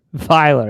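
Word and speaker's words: Feiler: How do you say his last name? The right tackle? Feeler? Ah, there you go. Dollar. Filer. It's Filer.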